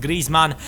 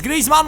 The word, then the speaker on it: Griezmann: me that in the comments his name is pronounced Griezmann and right here they are making another mistake it is Griezmann once again oh my God this guy had